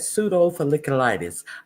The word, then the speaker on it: pseudofolliculitis: providers 90 days to reevaluate Marines diagnosed with pseudofolliculitis barbae, I think is how you say that. Pseudofolliculitis barbae, or Yes, that's how you say that, pseudofolliculitis.